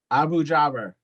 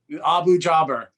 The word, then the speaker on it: Abu-Jaber: Abu Jaber. Abu Jaber.